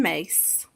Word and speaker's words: Myss: And the one that stood out for me is Carolyn Mace, Oh, MYSS, Carolyn Mace. how many On, people, let's pause. How many people know okay, good. Carolyn Mace or know of Carolyn Mace?